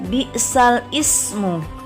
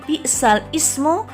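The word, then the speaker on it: بئس الاسم: Ada huruf alif lam yang dibaca kasroh lamnya, sedangkan kata ismun hamzahnya tidak dibaca. Di situ tertera lafadz bi'sal ismu, tapi membacanya tidak bi'sal ismu, melainkan bi'salismu. Jadi bacanya adalah bi'salismul fusuku ba'dal iman.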